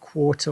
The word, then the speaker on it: quarter: common quarter i suppose when you pronounce it quarter or question it sounds like there's a w in there and then you have